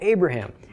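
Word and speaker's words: אברהם: how names are spelled Abraham you would probably recognize from just pronouncing it with Aughra Oh a bruh ham but Isaac is a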